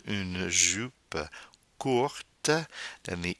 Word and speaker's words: courte: If the adjective court, short, is in the feminine form for agreement, like une jupe courte, then the E forces the pronunciation of the T with the agreement.